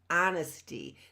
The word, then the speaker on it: honesty: Honesty, but the H is silent. You can't hear the H, and it's honesty.